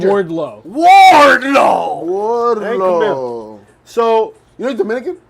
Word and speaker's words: Wardlow: No, you're mispronouncing it. It's Wardlow.